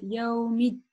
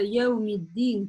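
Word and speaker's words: يوم الدين: буквы, это буква «та», часто ошибаются, вместо «да» в удвоении еще с касрой произносят букву «та». Поэтому внимательно, чтобы такого не допустить. Это очень частая ошибка, практически, ну, 90% из начинающих произносит вместо «даль» «та». Говорят «яумить». И помимо произношения, да, что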